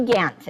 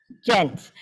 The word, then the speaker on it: Gent: Okay, okay, Gant, it sounds like. Gant. Gent, Gent, G-E-N-T.